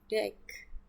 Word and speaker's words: deque: Sebuah deck, ya dibacanya deck.